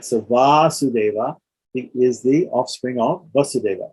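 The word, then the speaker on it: Vāsudeva: So the idea here is that Vasudeva, with a short a, has a particular suffix, or the a in the first syllable gets lengthened, and that indicates the sense of an offspring of that person, right?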